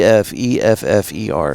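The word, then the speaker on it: Pfeffer: you say that beer p f e FF e r feffer feffer fine silent P include that in your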